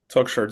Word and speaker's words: Toukhcher: Toukshire.